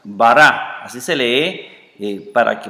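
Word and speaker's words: ברא: es una a Y esto es una alif que no se pronuncia bará así se lee para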